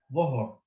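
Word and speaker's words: ظهر: Don't you cannot make this into a double vowel because it doesn't have a wow after it. Says dhuhur.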